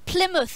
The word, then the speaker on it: Plymouth: but you guys mispronounce plymouth of Berman omen I'd Worcester like it's not pronounced believer it is pronounced Plymouth how else do people